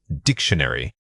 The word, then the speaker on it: dictionary: The word is dictionary. Say it again. Dictionary. This one is a great example of compounding rhythm. The stress on dicks establishes the words beat right away.